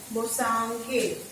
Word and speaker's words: Bosanquet: So according to an important political thinker, Bosanquet, said Bosanquet. This is the definition of Bosanquet about right. Here T is silent.